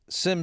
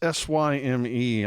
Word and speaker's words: Syme: So I thought this was interesting that, let's see, Sim sprang to his, how do you pronounce his name? Is it Syme or Sim? It's Syme.